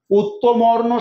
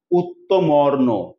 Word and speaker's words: উত্তমর্ণ: উত্তমর্ণ শব্দের মধ্যে উচ্চারণে কি খুঁজে পাচ্ছি? অর। উত্তমর্ণ।